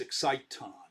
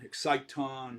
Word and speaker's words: exciton: should be really pronounced exciton i like that better it also rhymes with phonon and uh photon exciton right they're all that's